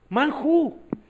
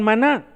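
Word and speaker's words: man hu: Y todo, pero otros preguntan, manjú, manjú. Entonces esa sería las dos sílabas. O sea, nunca dijeron maná, ¿ok?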